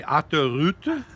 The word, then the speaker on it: autoroute: And it reminded me of a time in France where we had a little miracle on the autoroute. Can you say autoroute? That's how they say it.